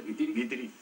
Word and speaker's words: Guitiriz: Guitiriz es ¿cómo se pronuncia? Guitiriz.